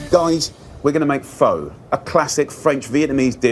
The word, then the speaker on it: Pho: we're going to make foe a classic French Vietnamese dish it's not foe it's F it's not foe like faux fur already Jamies Oliver bro